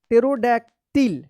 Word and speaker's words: pterodactyl: P silent है, sudo. अब देखिए यहाँ पे PTERODACTYL। अब देखिए यहाँ पे क्या पढ़ेंगे इसको? टेरोडैक्टिल।